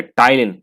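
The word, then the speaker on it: ptyalin: तो एमाइलेज या टाइलिन। टाइलिन पी इसमें साइलेंट है भाई।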